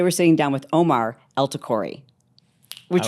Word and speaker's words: El-Takrori: sitting down with Omar elori which rhymes with tell my story hey and um we're